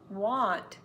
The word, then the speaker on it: want: pronunciation tip as well won't and want are not pronounce the same won't is more of a long o I won't do it and you need to say oh so that we don't think you said want want is more open want want W is more circular o so in the sentence